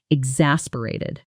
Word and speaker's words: exasperated: Let's break the sound down. X a s pered. The stress is on the second syllable. In fast natural speech, the middle often blurs together. Excessb braided. Say it slowly first. Exasperated.